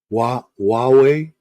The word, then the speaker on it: Huawei: Huawei, Huawei. That's how you pronounce it.